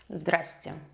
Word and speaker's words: здравствуйте: Eventually, you get tongue-tied because there are 4 consonants in a row in this word. So, you just pronounce it «здрасте».